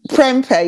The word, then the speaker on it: Perempe: And I smiled when I saw the name Perempe. Did I pronounce it properly? Perempe, yes.